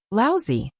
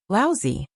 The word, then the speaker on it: Laozi: Zhang County magistrates frowned and said, Laozi. Li Mu corrected his pronunciation and said, Laozi.